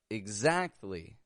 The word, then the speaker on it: exactly: Why is X sounding like igs? Because it is starting the unstressed syllable. And so we don't pronounce a full eggs, otherwise it would sound stressed. And so we give it a quick and quiet igs, igs.